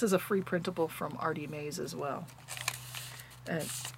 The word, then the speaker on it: Artymaze: I believe this is a free printable from Artie Mays as well. And it's spelled Artymaze, in case my accent is throwing you.